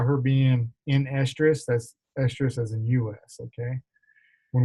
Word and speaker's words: estrus: of these on here you will hear a stress and stress pronounced the same but there's differences estrus as in us is the period of